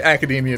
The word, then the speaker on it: Academia: heard it pronounced academia it is definitely academia because it is a real word in the English language what do you can